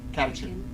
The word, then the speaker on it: catechin: Catechin. Does anybody know how to say that properly? Which one? The third one. Catechin.